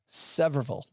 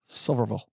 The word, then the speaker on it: Sevierville: Doug, how do you say Sevierville? Isn't it Severville? It's Severville. Silverville, according to Derek.